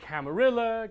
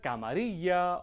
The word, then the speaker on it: Camarilla: You can say Camarilla Camaria or even Camar is strictly speaking I don't like that though some of it is a bit ridiculous.